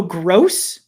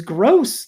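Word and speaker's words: Grose: at one point and he had said the right fielder is Gross. That's his name. Not a judgment about him. And I just feel like it's spelled G R O S E.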